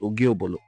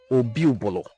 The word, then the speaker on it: Obi-Obolo: this very king called Ogiobolo. Obi-Obolo is his name, not Ogiobolo. Now, I will pardon them because we cannot choose for them how to pronounce our title. What we have is Obi, not Ogie.